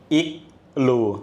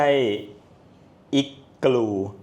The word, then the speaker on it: IGLOO: ให้ ฟัง หน่อย ค่ะ บริษัท เรา อรู Studio ครับ โอเค ค่ะ ไม่ ใช่ อิ กู ไม่ ใช่ อรู นะ ครับ เรา คือ อรู Studio